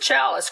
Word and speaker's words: Chalice: So I want to welcome you, Chalice, and you do pronounce it Chalice, correct?